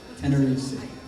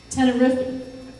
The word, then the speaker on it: Tenerife: Tenerife. Tenerife. Tenerife. Oh, Tenerife C. Okay, you guys all know that, but I don't. Sorry, Cody. Tenerife C by Ed Sheeran.